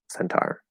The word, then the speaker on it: centaur: i'll move on uh how do you say centaur yeah definitely not centaur yeah center like i i can't imagine anybody saying it that way um centaur yeah um and it's gonna